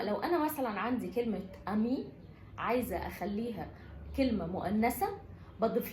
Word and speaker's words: ami: فلما لو انا مثلا عندي كلمة امي عايزة اخليها كلمة مؤنثة بضيف لها حرف الاي. النطق ما بيختلفش، بتفضل امي مذكر امي مؤنث.